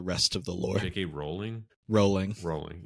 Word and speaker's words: Rowling: Rowling write that last chapter before she built out the rest of the lore? J.K. Rowling. Rowling. I thought it was Rowling. It's not pronounced Rowling.